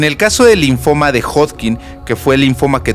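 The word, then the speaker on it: Hodgkin: digo mal sí Entonces si se escribe hodkin es así hin hodkin hodkin algunos ponen hoskin pero la es como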